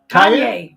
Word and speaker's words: Kanye: crazy Cayenne West or Keon how do you pronounce his name k k Kanye Kanye West Kanye had his album his brand